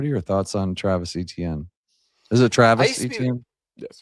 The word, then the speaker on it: Etienne: Is that pronounced right? Etienne? ETN.